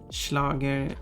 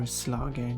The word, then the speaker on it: Schlager: So Schlager would be the German name for it, but Slager would be Swedishifying the pronunciation, in the sense of, in German I think S before L becomes a sh sound, but in Swedish does not.